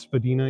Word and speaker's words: Spadina: I'm told it's pronounced Spadina, even though it's on Spadina.